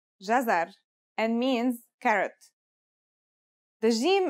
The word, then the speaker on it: jazar: it out loud it should be easy it's pronounced jazar and means carrot the gym is connected to